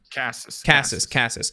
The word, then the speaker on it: Casas: Casas.